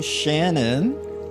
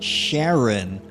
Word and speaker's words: Sharon: Have I been saying it wrong this whole time? Sharon. Sharon's Poetry Corner. I was like, hold on, wait a minute. That's not Shannon. That's Sharon.